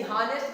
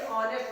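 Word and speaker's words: honest: तो इज ही एंड यानी हानेस्ट के पहले एन लगता है उसमें, क्योंकि ऐसा होता है कि ये साइलेंट रहता है तो हॉनेस्ट नहीं इसे ऑनेस्ट लिखा जाता है।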